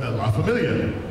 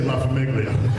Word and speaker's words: La Famiglia: I went, La Familia. He's like, oh, Jesus Christ. That's how you say it, isn't it? No way. Yeah, that's how you say it. Goes, oh, God. We got 7 hours of people saying La Famiglia. You're going to have to say La Famiglia.